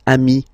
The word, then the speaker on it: amis: Plural form, you add this S, but it's ami as well.